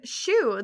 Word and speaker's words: Shuu: And to preface, Shu is SHUU. Okay. Not like the physical shoe. Yeah. Yeah, not like its cousin Boot. Yeah. Well, it's spelled with two Which U's instead of two O's.